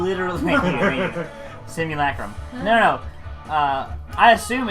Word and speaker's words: simulacrum: It's pronounced simulacrum. Literally, simulacrum.